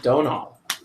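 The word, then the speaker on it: Domhnall: a Dono I guess I guess you don't pronounce the M Donal okay all right so Donal Glon yeah I was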